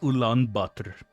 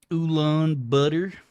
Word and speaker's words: Ulaanbaatar: It's like that there tea, that oolong tea, and then you just throw the word butter after it. It's like oolong butter.